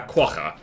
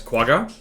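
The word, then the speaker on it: quagga: Um got sandwiched between a centaur and a quaka known to people who can't pronounce that word as quaga.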